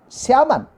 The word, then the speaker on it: salmon: Salmon, not salmon, salmon. Salmon is a correct pronunciation. Salmon is a correct, L is a silent.